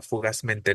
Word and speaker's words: fugazmente: sea una palabra esdrújula fugazmente no fugaz mente sigue siendo una aguda terminada en Z esa terminación mente no